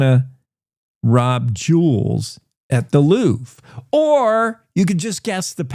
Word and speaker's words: Louvre: It is Louvre, just so you know.